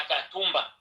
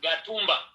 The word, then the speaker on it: Gatumba: mibale epai na biso babengaka Katumba nde frontiere na biso prononciation epai na bango babengaka Gatumba na Kirundi kote eza alphabet K kote na bango eza alphabet G prononciation mibale wana ekeseni voilà Mukwege asilisaki kelasi